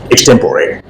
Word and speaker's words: extempore: But in case of extempore, the spelling doesn't say that clearly, because in English generally the final E is not pronounced. But here, as it is not an English word, It has come into English from some other language, and for that reason only, the final E is also pronounced extempore.